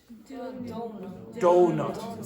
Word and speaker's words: donut: Donut. So what's that? Dough. Okay, so everyone makes a mistake with this. You think it's pronounced different to what it's written. Okay, so it's dough.